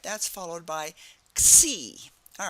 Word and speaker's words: Xi: It starts with an X, but it's pronounced Xi, so that when you see the Xi, that's how you pronounce it, like a KS.